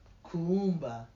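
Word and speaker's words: Kuumba: Kwanzaa we celebrate Kumba Kumba there's two U's in the middle of that k-u-u-m-b-a and hence the pronunciation means creativity we find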